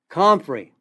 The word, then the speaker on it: comfrey: Comfrey, it's spelled C like Charlie, O-M like Mary, F like Frank, R-E-Y, comfrey.